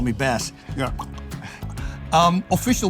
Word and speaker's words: Bas: One S, by the way, otherwise it's Bas. A lot of people pronounce it Bas, but I'm not a fish.